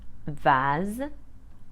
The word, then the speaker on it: vase: Mass Tas o class but a single s between two vowels will be pronounced Z like in the words Jose Vaz pose or cause now let's have a